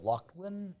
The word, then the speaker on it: Laughlin: Um, Brian Lachland L I it's spelled like Laughlin, but I guess he says it Lachland.